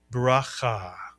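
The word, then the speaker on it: ברכה: And how about the second syllable? If you said the the letter we learned this lesson plus the kamat and the he is always silent at the end of a word is correct. You put the word together, you get braha. Braha, a two syllable word braha from the Hebrew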